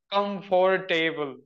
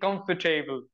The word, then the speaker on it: comfortable: not learning this language I used to say like come for a table okay full syllable but after that I started saying comfortable comfortable so in three syllables so that is the